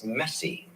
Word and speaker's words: Messi: I'd like to say my last name is Messi pronounced the same way as Lionel Messi just had to let